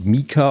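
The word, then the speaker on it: Meeker: Also wenn man mal mit den Sommerhimbeeren anfängt, die Sorte Meka, die schreibt sich M-E-E-K-E-R, wird, glaube ich, Mika ausgesprochen.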